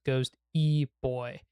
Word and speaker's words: Ghosty Boy: But coming back to here about, hey, I'm Ghosty Boy, pronounced Ghost E Boy.